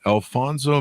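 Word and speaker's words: Alphonso: think it was interesting you sent us the Alfonso mango I pronounced correctly that is yes yes and you've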